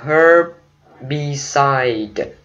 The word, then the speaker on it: herbicide: Chữ tiếp theo là herbicide. Herbicide. Ok. Herbicide. Nhấn âm đầu tiên ha.